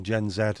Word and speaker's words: Gen Z: some reals on instant gen Z or gen Zed as it should be pronounced are they are a